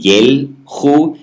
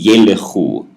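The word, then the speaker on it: ילכו: So here you have the long E sound, ye, so yelechu. It wouldn't be yelchu, it would be yelechu.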